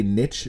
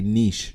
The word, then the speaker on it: niche: So you can either say niche to rhyme with witch, or you could say niche to rhyme with sheesh. Either pronunciation works completely fine.